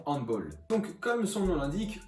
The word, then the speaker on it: handball: Donc comme le sport est d'origine allemande, on va le prononcer handball et non handball.